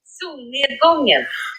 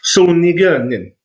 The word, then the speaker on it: Solnedgången: It means the sunset, and this is how it's pronounced. Solnedgången. Solnedgången. Oh, I have a feeling that's what Ed was going to deliver. Oh, totally. Yeah, I can confirm that is the correct way to pronounce it.